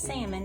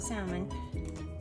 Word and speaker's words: salmon: three ingredients a can of salmon and it's pronounced salmon not salmon one egg and about i don't know we'll